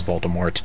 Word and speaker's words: Voldemort: gave up and said okay his name is Voldemort I hate silent letters I mean it's just it's just not